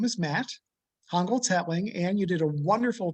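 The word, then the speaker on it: Hongoltz-Hetling: just introduce myself hi my name is matt hongold's hatling and you did a wonderful pronunciation job well done uh 12 years ago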